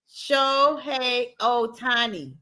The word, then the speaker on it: Shohei Ohtani: Shohei Ohtani. Good job. Good job, Auntie Tracy. Very well. Shohei Ohtani.